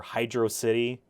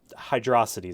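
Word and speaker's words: Hydrocity: zone or Hydro City it's hydrosity Zone has a little bit of that in there that in that in that music because there's no space in the name so it's how you pronounce it it's not Hydro city um part of the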